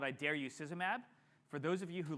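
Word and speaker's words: Idarucizumab: how to pronounce it there is a way to pronounce it I dare you szab and you can think of mab at the end because a monol anti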